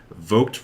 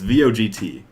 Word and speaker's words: Vogt: So the movie being directed by, so I don't know how to pronounce it specifically. Jordan Vogt Roberts? Do you know? It's VOGT.